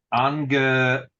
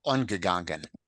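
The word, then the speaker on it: אָנגעגאַנגען: Wir seien euch kein Tor nicht angegangen. Angegangen. No, first syllable is an Komets. Ungegangen.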